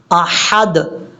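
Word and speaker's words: أحد: هو اللہ احد، اب حمزہ کے بعد جو ہا ہے یہ ہا بریک ہے، اگر آپ اس کو پڑھیں گے احد تو یہ بہت بڑی غلطی ہو جائے گی، آپ نے اس کو احد نہیں پڑھنا، احد، احد، یہ ہے اس کا پڑھنے کا طریقہ، قل هو اللہ احد۔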